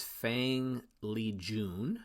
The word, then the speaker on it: Fang Lijun: And then I looked it up, it's Fang Lijun, is how you pronounce it.